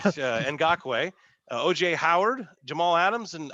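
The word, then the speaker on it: Ngakoue: Okay, it's spelled Nagkui, but Ngakwe.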